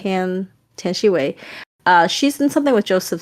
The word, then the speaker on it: Tian Xiwei: Tian Xiwei. Tian Xiwei.